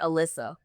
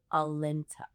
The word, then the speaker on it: Alinta: I would get Alyssa. I would get Alida. I would get Alicia. Like, my name is Alinta.